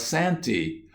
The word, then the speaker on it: Santa: Santa Claus of course one never said Santa one wrote Santa the proper pronunciation was Santi all the people who believe